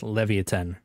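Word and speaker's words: Leviatán: place Levi and 10 or Leviathan depending on how you pronounce it but I'm pretty sure it's pronounced Levan so got to support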